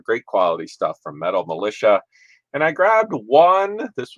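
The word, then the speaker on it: Mulisha: so this is the brand is actually Metal Militia so folks that are out there if you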